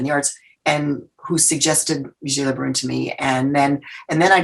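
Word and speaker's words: Vigée Le Brun: How do you pronounce her last name? Vigée-Le Brun.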